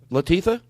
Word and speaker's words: Latifah: What's Queen Latifah? Yes. I'm saying it wrong. Queen what? Latifah. Latifah. Mm-hmm. I said it wrong.